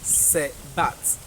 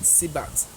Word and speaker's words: Sebat: month, the 11th month, which is Sebat, or somebody can choose to call it Sebat or Sebat. So it is spelled S-E-B-A-T, Sebat or Sebat, whichever way you can call it.